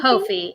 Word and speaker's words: Ko-fi: Ko-fi. It rhymes with no fee.